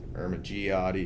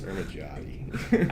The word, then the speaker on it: Ermigiotti: It's Ermigiotti. Okay. Some people say Ermigiotti. Ermigiotti is incorrect also. It's Ermigiotti. I switch between it every so often because everyone tells me something different.